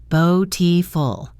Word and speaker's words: beautiful: Beautiful. Day. Isn't it? The word beautiful has a flap T in the middle, so it sounds like beautiful.